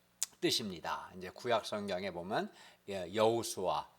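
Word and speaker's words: יהושע: 이제 구약 성경에 보면 여호수아, 히브리어를 그대로 발음하면 예호수아라고, 이걸 축약하면 예수아라고 부르는데, 이 말은 구원, 하나 여호와께서 구원한다는 뜻이거든요.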